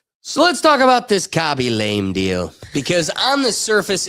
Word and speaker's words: Khaby Lame: is this really how you pronounce this guy's name when you say it? Yeah, Khaby lame.